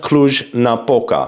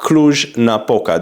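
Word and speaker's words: Cluj-Napoca: position I want you to consider it's called CL Napa CL Napa this is how you pronounce it the problem I have with cl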